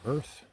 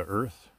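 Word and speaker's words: Urth: australia but they recently changed their their name to earth that is u-r-t-h i think that's how you pronounce it but my go-to filter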